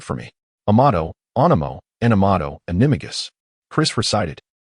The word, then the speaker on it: Animagus: Amato, Animo, Animato, Animagus. Chris recited. Wait, the syllable of Animagus must be articulated.